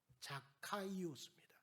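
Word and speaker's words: Ζακχαῖος: 누구냐 누구랍니까 깨우라 합니다 이 삭개오라고 하는 이름을 헬라식 이름으로 발음을 하게 되면 자카이오스입니다 히브리어 자카이에서 왔는데 무죄한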